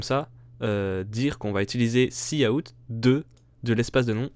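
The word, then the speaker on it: cout: STD c'est C out ça se prononce C out et pas coup ou je sais pas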